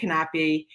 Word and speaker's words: Knape: special guest today, Kristen Knape. And that's how you spell it, Knape. You pronounce every single piece of her last name.